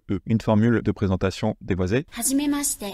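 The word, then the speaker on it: はじめまして: Hajimemashite. Hajimemashite, c'est pas hajimemashite, hajimemashite, c'est très dur à dire, hajimemashite, hajimemashite. C'est beaucoup plus naturel.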